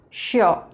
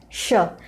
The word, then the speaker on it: sure: if you would like it's sure it's not so it's sure and the our sound is very light listen to it once